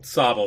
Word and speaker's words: Sobble: Sobble, that's what it is. That's how you pronounce it.